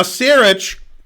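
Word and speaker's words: Sarić: Saric, don't tell me how to pronounce Saric. Well, it is Saric, yeah.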